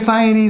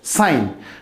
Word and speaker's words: sine: it is pronounced as sine this is i n theta this s i n is pronounced as sine theta but not sin theta okay and this uh